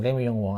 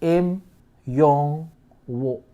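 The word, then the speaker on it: 임영웅: There's no L in his name. Like, this is the Korean name. That is not. It's like Im Yong Wo.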